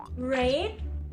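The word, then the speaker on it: read: ออก เสียง ว่า เฮ้ย ถ้า เป็น กริยา ช่อง 2 ก็ ออก เสียง ว่า Red ที่ แปล เหมือน กับ สี แดง หรอ คะ ใช่ ค่ะ Red แบบ เดียว กัน กับ ที่ แปล ว่า สี แดง เขียน ไม่ เหมือน กัน แต่ ออก เสียง เหมือน กัน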